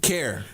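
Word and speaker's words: Kjar: Kare. Kare. So, it's K J A R, but it's Kare. Kare.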